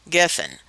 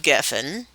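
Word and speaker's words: גפן: It's spelled Gimel, Pei, Nun, Geffen. The Pei sounds like a P or an F, and it's Strong's number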